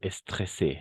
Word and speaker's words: stressé: aujourd'hui simplement pourquoi stressé n'est-ce pas et stressé très bien tu l'as bien prononcé et attention parce que le double S le double s on va prononcer comme un S simplement d'accord le double S